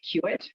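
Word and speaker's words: CUAET: QIT is one of the ways that it's pronounced, that acronym.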